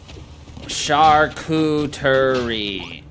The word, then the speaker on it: charcuterie: Charcuterie. Why did I think it was just literally pronounced like cooterie board? Don't ask me. Maybe I've just always like missed the word char in there.